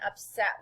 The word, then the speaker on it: upset: first syllable is accented look how the accent and upset is at the end refers at the end